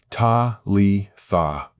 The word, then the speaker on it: Talitha: The word is pronounced ta le tha. Three syllables. Emphasis on the first. Ta like the beginning of father. Lee like the name.